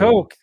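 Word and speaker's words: Cocke: How do you say it? Cook. Coke County. I got a client that's there we go. Last name's Coke. So Coke. It's Coke County.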